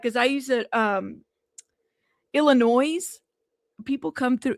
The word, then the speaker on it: Illinois: doing and he has the same habit of saying Illinois like adding an extra s or whatever.